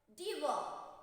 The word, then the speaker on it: devour: D-E-V-O-U-R. Devour. Say devour. Okay, R is silent.